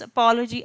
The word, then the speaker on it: apology: When I pronounce apology, I give more stress to the letter, to the part APO rather than logi.